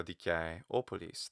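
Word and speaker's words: Δικαιόπολις: And also dikaioupolis. The kai is long.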